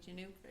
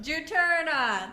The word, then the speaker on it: Juturna: Did you know that, I'm going to say it wrong probably, Juniper? I can't even say it. The first album. Juturna.